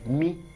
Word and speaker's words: M: The spelling like English M, but in pronunciation is Mi.